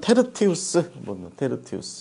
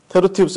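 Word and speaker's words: Tertius: 그래서 이 사람의 이름이 우리말로는 더디오 이렇게 돼 있지만, 뭐 더딘 사람 더디오 이렇게 돼 있지만, 원래는 이제 원래 발음으로 치자면 테르티우스, 테르티우스 여러분 지금 화면에 보시는 것처럼 프리무스, 세쿤두스, 테르티우스, 콰르투스 이렇게 되면 뭐냐면 첫째, 둘째, 셋째, 넷째 이런 뜻입니다.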